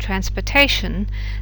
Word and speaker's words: transportation: You have some words, transportable and transportation. The real difference here is that whereas the stress in transportable is on the por, it isn't in transportation.